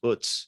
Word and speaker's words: Utz: Popeyes, Utz, Utz is the correct German You- pronunciation, and I will have to be Utz?